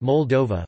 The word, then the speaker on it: Moldova: Moldavia, Romanian, Moldova, pronounced Moldova, listen, or Terra Moldovei in Romanian Latin alphabet,